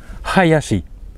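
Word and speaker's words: はやし: l'avez-vous reconnu c'est donc attention h bien le pronon oncé ha le second ya y et le troisième ch attention c'est pas l'té hein c'est pas chi c'est bien chi Hayashi Hayashi qui veut dire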